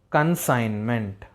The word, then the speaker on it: consignment: The G is silent there. A group of goods, consignment.